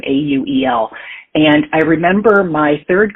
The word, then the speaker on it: Auel: Auel, I think is how you pronounce her last name, Auel.